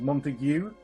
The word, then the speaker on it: Montague: Also, if we're on the point of how you say things, Montague, not goo.